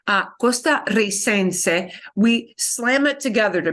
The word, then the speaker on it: costarricense: To replicate that, they double the R in the nationality word. Costarricense, costarricense, because we slam it together, we gotta want to keep the strong trill that would be here. So we double the R.